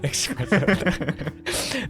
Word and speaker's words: espresso: It's not espresso. There's no X, it's just espresso. Espresso. With an S.